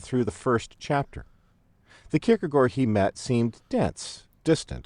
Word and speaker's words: Kierkegaard: stumble across this strange 19th century Danish name pronounced Surin kierkegor and wonder what's up to make matters more